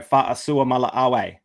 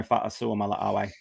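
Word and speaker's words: Fa'asuamaleaui: Yeah, that is Tino Fa'asua Mala'awe. Don't ask me how to spell it. Definitely don't ask me how to spell it, but Tino Fa'asua Mala'awe.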